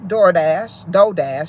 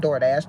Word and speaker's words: Dodash: I slept on this for a minute, because until I saw another content creator, and I'm going to say her name, Dodash, not DoorDash, Dodash.